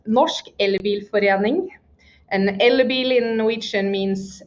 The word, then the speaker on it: Norsk elbilforening: It's pronounced Norsk Elbilforening.